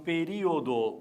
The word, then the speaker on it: período: Agora, período, eu vou cuidar, porque existe uma sílaba em período que é representada por uma letra só. Então, período, última, penúltima, antepenúltima. Ela também é uma proparoxítona.